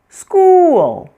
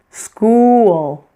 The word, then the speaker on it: school: you hear those sounds, the l after it is going to almost add an extra syllable. For example, sale, real, while whole, school. As you can see, these words are written as one syllable, but pronounced is almost two when we say them slowly.